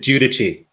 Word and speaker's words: Guidici: a tough one i i pronounce it judici yeah but i've heard